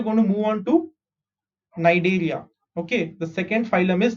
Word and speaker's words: Cnidaria: So you don't pronounce C. Ni is Ni, Da is Day, Ria is Ria. Cnidaria.